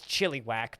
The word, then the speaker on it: Chilliwack: i go to like chilliwack which is as rhinestone pronounces as chili whack because that is how it's pronounced um if i if